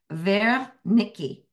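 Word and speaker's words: Wernicke: area inside of the temporal lobe called It's pronounced ver Nikki so it's w r n CK both sides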